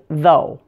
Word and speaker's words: though: these four words is though so you may see native spell it th o especially in texting thinking of this spelling should help you pronounce it correctly let's look at